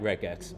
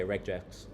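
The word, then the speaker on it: regex: So, I like reex. Okay. So, you can say rejax if you want or reject in Thai, right?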